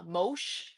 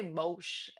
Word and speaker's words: Moash: I always say Mosh, and then when I heard Moash, I'm like, what? I think You're in my head I read it pronouncing as Mosh, just like when I'm speed reading, but I read it Moash.